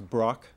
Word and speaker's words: Brock: It's Brock. The C is a little harder than I think you're pronouncing it.